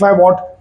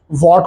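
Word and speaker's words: watt: मतलब पावर ठीक है मुंबई में कुछ लोग स्टाइल में कुछ टीचर्स गलती से ये गलत प्रोनाउंस करने लगे हैं वट को वैट कहते हैं क्योंकि डब्ल्यू एच एटी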